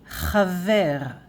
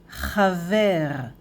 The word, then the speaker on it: חָבֵר: So friend in Hebrew, singular masculine, chaver, chaver, chaver, chaver. And masculine plural is chaverim, chaverim, chaverim, chaverim, chaver, chaverim.